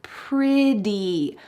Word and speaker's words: pretty: T, even though there's a T, in American English, that T will change to a D sound. This happens all the time in American English. We say water, sweater. Great. This is the same with the word pretty, pretty, and that's how she says it.